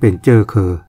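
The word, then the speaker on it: เชื้อเครือ: หมาย ถึง เชื้อ ชาติ เมื่อ ก่อน นี้ ก็ ออก เสียง เป็น เจ้อ เคอ เช่น คำ เดิม ที่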